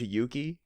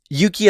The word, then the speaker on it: Yuki: Yuki as a boy's name is very often having to do with the word for courage, and as such is like Yuki in its inflection. It's like the first syllable is like longer because it has an extra vowel, and for girls it's usually Yuki, as in like it's shorter, and so there can be a differentiate.